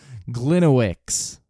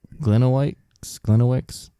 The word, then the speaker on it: Gliniewicz: How do you spell that? it's Gliniewicz. Got it. Gliniewicz.